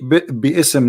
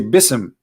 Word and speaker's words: bism: say you see here you didn't say be ISM no more here they say BISM so it's not an